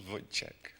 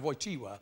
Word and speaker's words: Wojtyła: Karol Wojciech. Well, it's a dodgy thing to pronounce. It's actually a Karol Wojtyła, but if you look at the spelling of it, I'll accept it, OK.